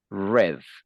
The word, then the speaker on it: read: same Spanish and English the only difference is the the pronunciation read in Spanish in in Spanish in in in present and in English in past is red all right right okay